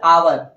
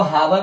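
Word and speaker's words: hour: हैं कैसे जानते हैं जैसे अवर अवर है ना तो इसको हावर नहीं पढ़ने हैं है ना और कई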